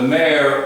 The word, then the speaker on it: mayor: He is the mayor of the city, M-A-Y-O-R. And just to help with the pronunciation, mayor, M-A-R-E. That's just pronunciation, mayor.